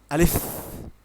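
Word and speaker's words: ألف: যেমন আলিফ উচ্চারণটা আমাদের যখন আমরা যখন আলিফ উচ্চারণ করি তখন মুখের থেকে বাতাস বের হবে। যেমন উচ্চারণটা হবে আলিফ খুব তাড়াতাড়ি হবে এবং বাতাস বের হবে।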